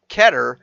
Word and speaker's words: Qatar: Okay, so, and the World Cup is being played in Qatar, is how I've been told it's pronounced.